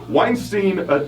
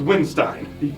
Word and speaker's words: Windstein: The hardcore kids showed up to throw down to Crowbar, and Weinstein Weinstein Windstein. It's It's pronounced Windstein.